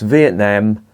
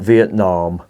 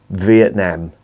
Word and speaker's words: Vietnam: It's pronounced Vietnam, not Vietnam. We are not American in this country yet, so we're going to pronounce it Vietnam.